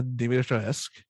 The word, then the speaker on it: Dimitrescu: The First Lord, Lady Alcina Dimitrescu. That U is silent. It's Romanian.